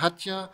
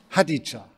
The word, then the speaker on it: Hadija: Hatja Haruna Oelker. Nein, ist schon falsch ausgesprochen. Ich habe damit gerechnet. Es wird ausgesprochen wie? Hadija. Ich habe damit gerechnet. Steht ja auch hier, Hadija.